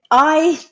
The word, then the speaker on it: Intensati: Intensati, Intensati.